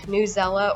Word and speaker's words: Newsela: you like actively learn newsela or news ela depending on how you say it and commonly org